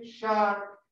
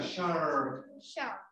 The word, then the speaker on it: shark: En inglés no se pronuncia así, se pronuncia la lengua enrollada hacia adentro y uno dice, escuchen, y debe sonar así, error.